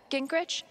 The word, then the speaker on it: Gingrich: is sick steph uh gingrich is that how you say it yeah that's right what kinds of radio